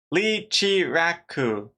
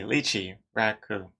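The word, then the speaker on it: Leechiraku: of them also uh lee chi raku to play on ichiraku ramen from naruto oh lee chi raku oh i okay i completely butchered your name i apologize i see lychee raku i will remember this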